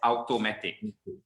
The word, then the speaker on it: automatic: So we tend to pronounce this as automatic. Automatic. If you pronounce this as automatic, memang auta lah jadi dia. Okay? It's not auto. Okay? AU in English actually makes the O sound. It's automatic.